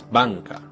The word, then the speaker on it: banca: Next, we have as in Italian's banca, or the English word bank. This is an N, but it's pronounced with the back of your tongue instead of with the front.